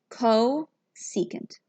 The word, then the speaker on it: cosecant: And this is called cosecant. CSC. This is called cosecant.